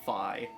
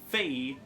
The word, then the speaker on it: Fi: will pronounce it as phi some people choose to pronounce it as fee but also in literally